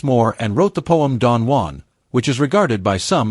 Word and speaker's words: Don Juan: Byron, however, was an Englishman who deliberately wanted his writing to be pronounced as Don Juan, emphasizing the Jew, regardless of how wrong it may be.